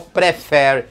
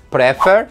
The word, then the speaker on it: prefer: né o verbo prefere que tem suas sílaba tônica no final prefere e não preferi né é o Justin